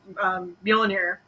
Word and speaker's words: Mjolnir: descending into the Loki chamber, and you see Mjolnir. Yep. I mispronounced. That's right. No, that's right. Mjolnir.